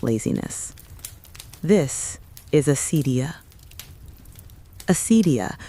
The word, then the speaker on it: acedia: Acedia, pronounced roughly acedia, was one of the great spiritual enemies of the medieval world.